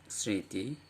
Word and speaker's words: স্মৃতি: স্মৃতি, এবং আমরা দেখতে পাচ্ছি যে এই দন্ত স-এর সঙ্গে ম ছিল, তাহলে দন্ত স-এর উচ্চারণটাকে সে সানুনাসিক করে দিয়েছে, মানে নাসিক্য করে দিয়েছে।